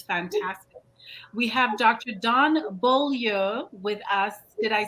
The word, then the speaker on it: Beaulieu: Don Beaulieu with us. Did I say that right, Don? Yes, that is correct, but the incorrect Wisconsin pronunciation is Beaulieu.